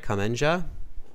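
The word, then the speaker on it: kamancha: Am I pronouncing it right? Kemancha?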